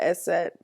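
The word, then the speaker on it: Eszett: I'm not even sure where they got the S set, but the S set makes the S sound. That's why it's called S set and not big silky B like I would have called it.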